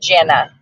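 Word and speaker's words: Gena: had it spelled wrong it's g-e-n-a and that actually spells Gina Gina different person she pronounced it Jenna Jenna well Nani that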